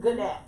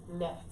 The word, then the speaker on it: gnat: no, it's not Gannett. It's just Nat.